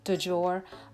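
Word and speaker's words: du jour: her this word but i believe it is pronounced dujour and that was the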